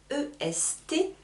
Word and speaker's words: est: Attention, très important, pour prononcer les choses, ici, c'est écrit E-S-T, j'entends est. Juste est.